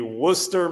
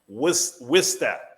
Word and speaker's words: Worcester: we say the word in the city that is spelled Worcester? Oh, that would be Worcester, Mass. Worcester, Mass, baby. Or as they would say in the city, Worcester.